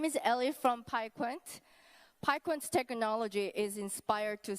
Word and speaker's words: PiQuant: PiQuant. Okay, good. Definitely looking at the slide, it's not the Dutch way, which would be PiQuant.